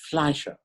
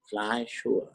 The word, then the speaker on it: Fleischer: It's Fleischer. Fleischer. F-L-E-I, that'd be fly, as opposed to I-E, which would be like Riemann, like Riemann hypothesis.